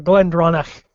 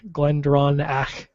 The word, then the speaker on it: GlenDronach: is what we're drinking Glenn Glen pronounced Glenn or glendronach actually not Glendon glendronach glendronach so it's gck um it's